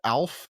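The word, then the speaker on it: OWLF: that out loud, it's ALF. Oh. Oh, the little alien thing. Wow. From the But it's pronounced O WLF. ALF. Alf just like the TV show.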